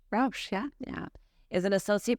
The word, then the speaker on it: Rausch: you that Dr Georgie a Rous is it pronounced Rous Rous yeah yeah is an associate professor lecturer in